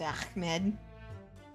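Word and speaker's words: Achmed: I mispronounced it. Ahmed. It's Ahmed.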